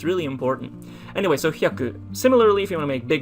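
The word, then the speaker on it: 百: It is pronounced as hyaku.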